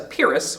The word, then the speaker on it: Pyrrhic: The second is to have 2 unstressed syllables back to back. We call this a Pyrrhic or Pyrrhic rhythm.